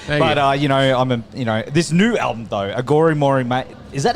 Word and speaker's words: Aghori Mhori Mei: But, this new album, though, Aghori Mhori Mei, is that how you pronounce it?